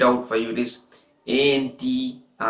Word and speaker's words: Antikythera: So first I will spell it out for you. It is Antikythera, Antikythera, if I'm not wrong.